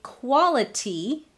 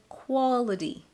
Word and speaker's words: quality: I didn't say quality, quality. I said quality. Flap on that T, quality.